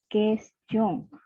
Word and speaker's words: question: Jadi U-nya tidak dilafalkan ya, quotidien, question.